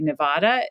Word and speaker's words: Nevada: often hear that as the argument for why Nevada should be Nevada because supposedly it's closer to the Spanish vowel system well you know that's